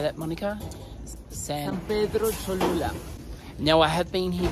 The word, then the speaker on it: San Pedro Cholula: San Pedro Cholula.